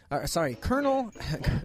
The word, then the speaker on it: Colonel: Colonel. Colonial. Colonial. Well, it's spelled that way, kind of.